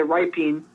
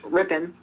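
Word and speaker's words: Rypien: his name wrong because every time I look at his name if I want to say riping but it's ripping uh he is 6'2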